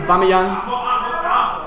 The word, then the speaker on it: Aubameyang: Pierre-Emerick, I'm not going to pronounce this right, Aubameyang or something like that. What? That's what I said, Aubameyang. That's what I said, thanks. I never said that, but it's Pierre-Emerick Aubameyang.